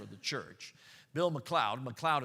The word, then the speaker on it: McLeod: McLeod is spelled M-C-L-E-O-D, not like cloud like up in the sky.